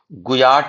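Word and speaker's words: guyot: गुयाट बोलते हैं। इसको इस तरह हम स्पेलिंग भी जी यू वाई एटी भी लिख सकते हैं।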